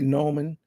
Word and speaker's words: Neumann: Some people say Neumann or Newman. But it's really German is Neumann, it's kind of like a German because it's a European company.